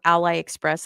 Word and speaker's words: AliExpress: to spell it, it's a as in apple, li and then express with a capital E. So, Ally Express, that's the way it's pronounced.